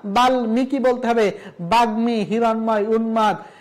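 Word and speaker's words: বাল্মীকি: তারপরে স্মিত বাঙময় গুলমো বাল্মিকি কেউ যদি বলে বাল্লিমিকি না না হবে না বাল্মিকি বলতে হবে বাগ্মি হিরণময় উন্মাদ এই যে একবিংশ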